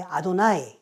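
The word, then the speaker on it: אֲדֹנָי: 그때 이제 여호와라는 이름을 어 요드헤이 바브헤이 뭐 발음하게 되면 뭐 야해라고도 발음하고 그러는데 한국 성경에는 여호와라고 이제 발음을 했어요. 유대인들은이 어미하신 하나님의 이름을 함부로 이름을 낼 수가 없어요. 하나님을 엄청 경외했거든요. 그래서 이것을 어 여호와 또는 뭐 야외 이렇게 발음하지 않고 이거를 그냥 주님이라는 뜻에 아도나이 이렇게 발음을 했습니다. 쓸 때는 이렇게 여아라고 쓰고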